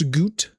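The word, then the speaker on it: Goût: Uh, today we got some Max Goot. Max Goot. Uh, Pepsi Max because it's Yeah, basically it says I'm Max Doo. I don't know if it's goo. I don't think you pronounce the T.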